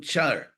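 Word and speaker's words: car: from a Sanskrit rot Char c a r pronounced like CH and uh it means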